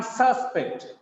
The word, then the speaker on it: suspect: He is the prime suspect. Suspect. The stress is on first syllable.